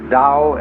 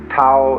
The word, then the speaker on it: Tao: called a dao tao pronounced dao in the mandarin dialect tao in the shanghai dialect told in the cantonese